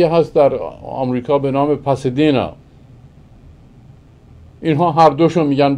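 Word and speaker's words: Pasadena: یک شهری هست در آمریکا به نام باسادنا، یک شهری هست در آمریکا به نام پاسادینا. اینها هر دوشو میگن باسادینا.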